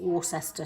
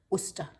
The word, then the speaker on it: Worcester: or english british struggle to say we don't pronounce it warcester sauce we pronounce it worcester worcester worcester sauce um this is tesco's own